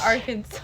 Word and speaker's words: Arkansas: It's Arkansas.